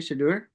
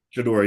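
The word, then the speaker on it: Shedeur: Shador Sanders? Oh, Yeah, Dion's Shador. son. Yeah, is that how you say it? Shador? Shador, yeah, Shador.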